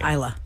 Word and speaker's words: Isla: gray is her name Isa Isa that's how you say likea how you say it uhuh like Isa Fisher oh like Isa oh